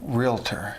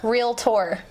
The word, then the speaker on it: realtor: busy mother you're a realtor I'm a realtor how do you say that real tour there it's not three syllables it's - it's not real a tour realtor that's a real tour I